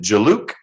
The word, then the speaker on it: Jaluk: Do you pronounce it Jaluk? Yes, sir. Mr. Jaluk, who is here in court with his lawyer, Ms.